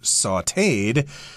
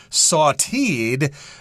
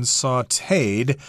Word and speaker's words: sautéed: this word is pronounced sauteed if I'm using English pronunciation rules I'd probably say sauteed but no that's wrong this is the French pronunciation sauteed and what does that